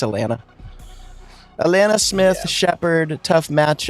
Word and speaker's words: Alanna: It's Alaina.